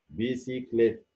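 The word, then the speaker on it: bicyclette: او الاجريك، زي كلمه بلس، ميدان بلس اهي، بنطق السي زي الاس. بيسيكليت، بسكليت عجله، بيسيكليت اهي، السي بعدها اجريك نطقتها السي زي الاس.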